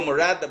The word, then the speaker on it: Mirada: yeah, that has Mirada written all over. It's Mirada, bro. It's not Miranda. Take off the N, bro. There's no N.